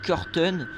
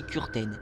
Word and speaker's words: Kürten: Donc c'est Kürten, vous pouvez dire Kürten, mais la vraie prononciation c'est Kürten.